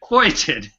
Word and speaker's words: feuilleton: Foyiten. Would you pronounce it one more time? It's pronounced foitin, and it comes from French.